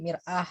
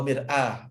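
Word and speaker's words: مرآة: Untuk mir'at ini dibacanya mir'at Ustaz ya, bukan taknya di mir'ah gitu, bukan jadi tak marbut. Mir'atan. Tapi kalau mau dibaca sukun dimatikan ya wa mir'ah juga boleh.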